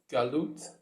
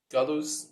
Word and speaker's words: Galus: One is exile and one is redemption, which are known in Hebrew as Galut or Galus with the Ashkenazi pronunciation, and Geula.